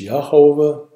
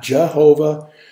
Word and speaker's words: Yehovah: And notice it's Yehovah, not Jehovah. The same reason, because Jesus is not spelled with a J. Yehovah is spelled with a Y.